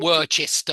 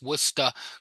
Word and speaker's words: Worcester: hardest of the hardest that's wora Worcester yeah it's not Worchester or anything like that it's Worcester gler Shear is like